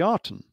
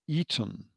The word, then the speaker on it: Aten: That's the normal pronunciation, but it's actually spelt with a reed glyph. And so the Artem is actually called the Eton rather than the Artem.